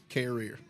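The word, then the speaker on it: Carriere: once and for all how do I pronounce carrier did I get it right career career just career like career like c a r e e r that's close enough we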